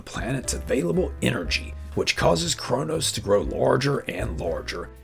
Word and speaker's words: Kronos: Kronos from 1957 and Kronos or cronis as some of the characters in the film pronounce it tells the story of